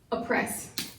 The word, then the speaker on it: oppress: By breaking that up, we're going to keep the long O short, and really it's almost a schwad O. It's not really oppress, it's just oppress.